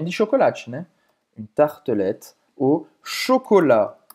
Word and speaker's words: chocolat: Pode ser também de chocolate, Une tartelette au chocolat. Chocolate em francês é chocolat. Você vai ter o T no final, mas não se pronuncia.